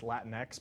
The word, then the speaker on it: Latinx: I was recently yelled at on Twitter for saying Latinx. Apparently it's Latinx, but when it's a made-up word, I don't think you can pronounce it wrong.